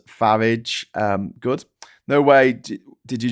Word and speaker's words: Farage: And yes, I pronounce it like Garage Farage.